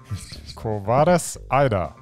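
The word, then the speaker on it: Quo Vadis, Aida: Quo Vadis Aida? Quo Vadis Aida. Oh, there you go. Vadis? Vadis. Vadis? Vadis. It's just okay. Just how it's spelled.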